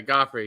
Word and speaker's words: Guifre: do I say uh uh gofy you say goffy as it looks okay goffy yeah I want it's pronounced like the uh the who was it